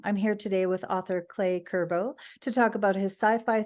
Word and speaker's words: Cle Curbo: Well, I've totally Americanized it. It's Cle Curbo.